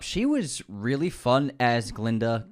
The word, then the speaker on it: Glinda: was really fun as Glinda galinda the gut is silent the gut is silent